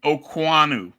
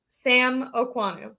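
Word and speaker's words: Okuayinonu: not how it's spelled but that's how it's pronounced okay say it a little louder so everyone can hear okanu U think of like Alexander okanu Sam okanu which is once again just literally not how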